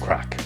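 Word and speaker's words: craic: see animals music and a lot of crack don't worry it's not the kind of crack that you're thinking about it's the Irish word for fun and we spell it c r a i c next on Route is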